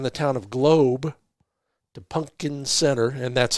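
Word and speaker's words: Punkin Center: at stretch from the town of globe to Pumpkin Center and that's how it's spelled p u n k i n Pumpkin Center it's a real place east of Tucson well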